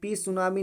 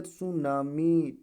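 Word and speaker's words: tsunami: psychology psychology ठीक है उसके बाद यहां पे पी सुनामी नहीं पढ़ा जाएगा पी सुनामी प सुनामी नहीं पढ़ा जाएगा प सुनामी नहीं पढ़ा जाएगा क्या पढ़ जाएगा प रिमूव हो जाएगा सुनामी ठीक है उसके बाद जो है सस है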